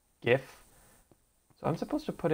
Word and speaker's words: GIF: Kind of like GIF and JIF. Like, apparently it's pronounced JIF, but it's not JIF, it's GIF.